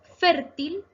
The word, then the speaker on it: fértil: Fértil se acentúa en la penúltima sílaba fer, pero esta sí lleva tilde. ¿Por qué? Porque termina en la consonante L.